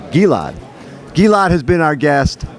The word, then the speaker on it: Gilad: Gilad, that's pronounced correctly. Gilad.